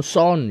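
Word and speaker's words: CERN: 약자로 하면은 CN 그래서 프랑스 그쪽이나 유럽에서는 세은이라고 읽고 예 뭐 미국에서는 선 이렇게 읽어요 그래서 얘가요 반지름이 한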